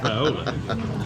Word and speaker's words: Viola: It's pronounced Viola. It's like Beersheba.